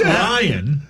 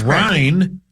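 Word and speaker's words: Ryne: It's not Ryan. It's Ryan Sandberg.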